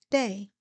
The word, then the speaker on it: DAA: Morning, I am Day, DAA are my initials, and it's pronounced Day.